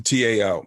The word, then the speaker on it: Tao: time about the tow I think he pronounces it the tow but the Tao and he says this